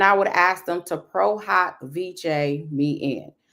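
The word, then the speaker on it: pro hac vice: prohawk VJ me in now everyone says prohawk Vice but a lot of stuff in the legal land is Latin so it's not going to be necessarily pronounced as how we will pronounce other words so it's prohawk V some people say vich prog VJ and it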